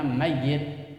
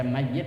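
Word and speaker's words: مَيِّت: tuh maka itu dibilangnya mayit yaitu ma mati atau bangkit boleh baca mayid boleh baca mayit maitun yang tadi saya bilang maitun yaitu Bang bangkai tapi dalam kitab saya dibacanya mayit dalam kitab saya seperti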